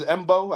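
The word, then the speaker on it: Mbow: I think the way you pronounce it is Embo.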